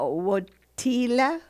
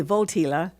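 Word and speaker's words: Wojtyła: Uh, Wila. Yeah. or could be votila because double 's are pronounced v's I think a pol but but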